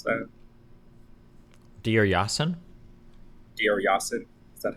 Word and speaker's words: Deir Yassin: Is that how you pronounce that? Deir Yassin? Deir Yassin.